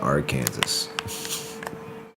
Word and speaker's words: Arkansas: Like why do we pronounce the S at the end of Kansas, but not Arkansas?